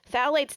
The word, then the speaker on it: phthalates: So for those who are not familiar with the term phthalates, which phthalates doesn't begin with a T, by the way, it begins with a P.